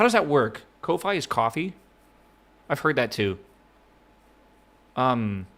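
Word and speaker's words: Ko-fi: Yeah, it's pronounced coffee. If that wasn't clear, though, I'm going to keep saying Kofi, though.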